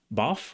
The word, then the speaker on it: bath: But in the Cockney accent, the TH sound is actually pronounced as an F, as a F sound. It's not written with an F, but it's pronounced with a F. So they'd say bath, bath, boff or boff or bath. I think it's boff. Bubble bath and laugh, right?